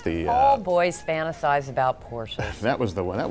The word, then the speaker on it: Porsche: First of all, did I pronounce it right? Is it Porsche or Porsche? It's Porsche. It is Porsche. Porsche. Now, you can do people do it either way. Porsche is correct.